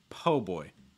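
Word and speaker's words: po' boy: cajun or creole um po again o sound like in go or slow case like oh oh okay and then boy so it's not it's like everything we talked about with placement you want to make sure the sound is low in the throat and relax enough po boy po boy you want to stress po again typically a sandwich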